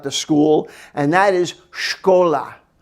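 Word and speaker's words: школа: school and that is shkola shkola and you might see sh cola and you're in the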